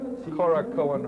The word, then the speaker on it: Korakuen: And here we are at Korakuen Hall. Andy, did I pronounce that correctly? That's Korakuen, right.